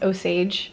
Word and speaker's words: Osage: it first of all I was saying it wrong it's oage for the tribe so I apologize didn't